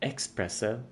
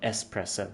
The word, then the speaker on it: espresso: Her pronunciation of espresso express which is a complete no-go. Nobody should ever do that. It is still espresso. There's no X.